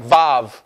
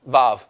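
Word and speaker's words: ו: Now, the vav is pronounced va in Hebrew, like vav, okay? Like a valve, vav.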